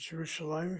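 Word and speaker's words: ירושלים: But Yerushalayim, if you see the word, it's CI and CV, first syllable, CV is the second syllable, La is the third syllable, and Yim is the fourth syllable.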